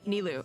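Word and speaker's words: Nilou: Nilu. Okay, that's how we're saying it. Sub-Zeros. Okay. Gotta learn the pronunciations.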